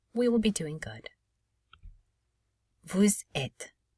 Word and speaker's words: vous êtes: Vous êtes. Notice we do not pronounce this ES, vous êtes, because we do not have to pronounce the final vowel sound, because this is at least one syllable word.